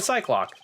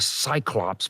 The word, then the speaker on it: Cyclops: You're mispronouncing the name of the one-eyed mythical creature. It's a Cyclops, but I don't know what Cyclops is.